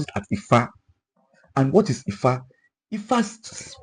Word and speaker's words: Ifá: about ọmọkùtù òjìre oníkálukú ní ọ̀dọ̀ tiwa we pronounce it as Ifá and what is Ifá Ifá ó sọ ìtàn